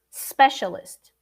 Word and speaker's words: specialist: look tip for you when i say social media uh i have to go from the ah to the s social media specialist not social media is specialist so as a teacher i can hear that i can hear my students inventing an eye before the s especially when there is